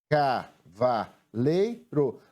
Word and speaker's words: cavaleiro: A sílaba tônica na palavra cavaleiro é a penúltima sílaba.